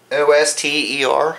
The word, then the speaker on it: Oster: It's an Oster, O-S-T-E-R, Oster, I believe that's how you pronounce it, Oster.